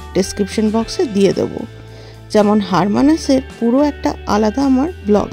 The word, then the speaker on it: Hermanus: ট্রিপের শুরুতেই আমরা গেছিলাম হারমানাস। হ্যাঁ বানানটা দেখে হার মানুষ বলতে ইচ্ছা হলেও একচুয়ালি এটার প্রোনাউন্সিয়েশন হচ্ছে হারমানাস।